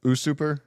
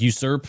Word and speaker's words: usurp: this is the word what is a uh usuper how do you pronounce that the overthrowing like usurp yeah I always mispronounce it yeah that's what